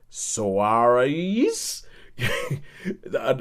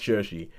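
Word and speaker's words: Saoirse: saw the name and I was trying to pronounce it I was like Suarez but eventually you know that it's shersey it's pronounced shersey and the fact that this is a film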